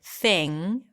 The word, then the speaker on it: thing: is my thing and notice how I said thing without popping my G sound at the end because it ends with an NG so you don't really release the G here thing and I hope